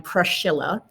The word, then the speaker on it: Priscilla: is called the catacombs we say priscilla because we've modernized and english english-eyes her name um but her name would have been pronounced at the time prashilla um and she lived